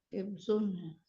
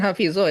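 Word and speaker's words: حفظه: Hifzun. Hafidhu syai. Sona, menjaga. Harosa itu juga sama, menjaga, memperhatikan ya. Jadi bacanya adalah hifzu, hafizahu. Afwan, astagfirullah. Afwan. Bukan hafizo ya.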